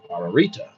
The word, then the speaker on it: Ararita: This word is pronounced Ararita.